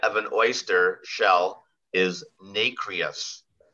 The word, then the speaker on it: nacreous: The inside of an oyster shell is nacreous. Nacreous or nacreous? Nacreous.